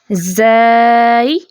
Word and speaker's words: زائی: اس کی ادائیگی کریں۔ زائی، اس کو زائی بھی بولتے ہیں، ٹھیک ہے، زا